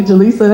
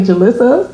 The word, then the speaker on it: Jalisa: say it wrong like I'll say Jalisa and they'll say Jalissa so it's just like